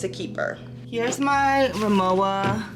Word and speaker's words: Rimowa: Here's my Rimowa. I think it's actually pronounced Remova.